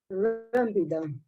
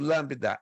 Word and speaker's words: lambda: R essa letra aqui que minha mãozinha tente pronunciá-la lambida lambda isso perfeito lambda Elvis a letra que a minha mãozinha tá